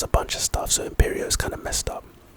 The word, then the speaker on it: Imperio: as bad as the first two so it's pronounced imperio the type is of course curse and its